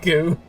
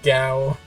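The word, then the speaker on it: Gou: Goo. How do you pronounce it? It's Gao. Gao. I call it Goo.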